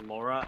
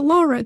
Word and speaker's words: Lara: I heard someone uh refer to her as Laura I was like it's not her name it's not was supposed to be Laura but they changed it to Lara to be easier for us Americans to pronounce